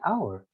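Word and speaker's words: hour: french french border like our we don't say the h we don't pronounce the h sound there we say our or the greek uh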